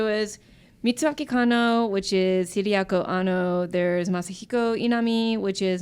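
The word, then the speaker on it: Hideaki Anno: Actually, Taylor Grant says right here, Mitsuaki Kano, who's actually Hideako Anno. Is that how I pronounce it?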